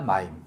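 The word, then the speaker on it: מים: 마임.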